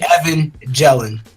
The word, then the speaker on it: Evangeline: Evangeline. Yeah. It's like Evan Jellin.